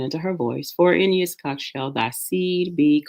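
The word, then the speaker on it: יצחק: But if you are learning Hebrew along with us, the name is Yitzchak. If you're going to try to pronounce that, yeah, sounds like Yitzchak.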